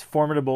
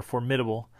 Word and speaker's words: formidable: So the first one is, you can pronounce it two different ways, formidable or formidable, right?